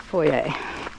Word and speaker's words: Foyers: Falls of Foyer. Foyer. How the Scottish pronounce it.